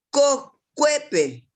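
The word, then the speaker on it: kokuépe: Cocuepe. Cue. Ahí en la E se pronuncia el acento.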